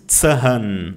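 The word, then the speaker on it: Zahn: E o H ele estica a vogal. Você não diz tsan não, ele só estica a letra Tsan.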